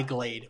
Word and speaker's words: Glade: a Glick it was by Glade which I think you pronounced like the singer Sade because it is an